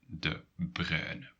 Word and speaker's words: De Bruyne: variations of pronouncing this Some people will add a y sound, the y from yogurt, yogurt. They will add it at the end of the so y. That depends on the region where you're pronouncing Kevin De Bruyne.